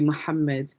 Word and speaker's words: Muhammad: And in Arabic, when you're pronouncing a name with a double letter, you have to emphasize those two letters. So it'll be Muhammad rather than Muhammad. So it'll be Muhammad, and then obviously his